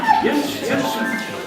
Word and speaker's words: Jens Jensen: Jens Jensen, spelled with a J, pronounced like an S.